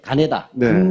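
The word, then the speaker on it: 金田: 보국단 발기 예 노란색 가네다 전이라고 김전이라고 읽지 않습니다 일본 사람들의 입자에서 읽어야 되잖아요음 창시 개명한 이름인 거죠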